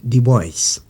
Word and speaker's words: Du Bois: Son nom s'écrit du bois, ça se prononce du boys.